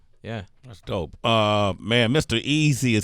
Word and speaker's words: MREAZI: my socials everywhere is at MREAZI, Mr. Easy. You doing this distribution network called Empower. Yeah. And it's spelled EMPAWA Africa.